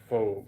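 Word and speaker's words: phở: It sounds like pho. That's the soup. Okay. It's pronounced pho. Pho, okay. Yeah, Americans don't say pho, but it's actually pho.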